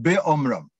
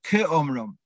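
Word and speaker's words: כאמרם: He says, "Vayhi be'omram." And you're meant to pronounce it ke'omram. So now, it's after the Megillah, everyone's gone home, and someone realized, oops, they didn't, the Baal Korei said be'omram, not ke'omram.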